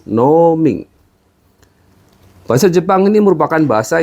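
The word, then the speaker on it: 農民: Apakah kamu adalah petani perhatikan pengucapan no pada kata noing yang diucapkan dengan nada yang panjang jadi bukan nomin tapi Ning bahasa Jepang ini merupakan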